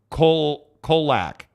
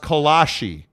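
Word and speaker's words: kolache: Dallin says in the Czech Republic where it is from, it's pronounced kolak. Colon? In America, it's pronounced kolashi.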